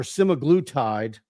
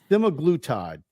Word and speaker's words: semaglutide: assisted weight loss with semag glude or semaglutide that's the correct pronun pronunciation semag glute semaglutide at both La at